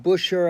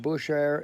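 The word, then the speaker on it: Bushehr: share with you in Buscher air Iran I'm believe I'm pronouncing that right Bush air bu Sh eh are Iran three ships have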